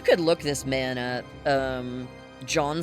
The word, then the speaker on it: Jean: John spelled like Jean.